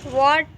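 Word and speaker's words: what: Spelling में W के तुरंत बाद एच का उच्चारण नहीं होता है। जैसे कि यहाँ पे मैंने लिखा है वाई, वॉट, वेन। तो देखिए यहाँ W के बाद यहाँ पे एच है तो इसका उच्चारण नहीं होता है, वाई होता है। यहाँ पर भी W के बाद एच है तो इसको वाट पढ़ा जाता है, यहाँ पे भी एच साइलेंट होता है।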